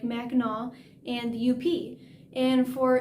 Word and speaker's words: Mackinac: up north to those popular michigan places like mackinac and the u.p and for anyone that's not in michigan yes that is the correct pronunciation mackinac the sea is silent and up is upper